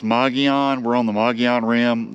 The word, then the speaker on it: Mogollon: And I think it's pronounced Mogollon.